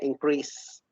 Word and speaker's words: increase: And another thing, the seh is pronounced z when it is between two pronounced vowels, but the e at the end of the word is not pronounced at all. So we say increase.